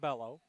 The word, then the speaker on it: Bello: Want to say Beo, but she told me that she pronounces it bellow. So beo is okay, too.